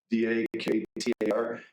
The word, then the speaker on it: Daktar: D-A-K-T-A-R. It's the way that the Bengali people in Bangladesh would pronounce doctor, Daktar.